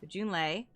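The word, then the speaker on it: Junlei: date with Jun Lee junl junay that's how her name is pronounced Jun leay and uh we can't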